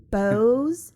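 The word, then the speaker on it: Beaux: a pet couture company bows and paws it's spelled b e a ux specializing in unique and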